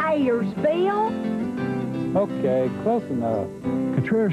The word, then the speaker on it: Cutrer's: That's Cutrer's, lady.